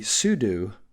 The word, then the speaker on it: sudo: that command is the sudo command and so I can and it's spelled like this sue do you look at that you might say well it looks like sudo because that would be